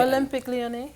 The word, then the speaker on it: Olympique Lyonnais: How do you pronounce it? Because I was reading it. Olympique Lyonnais.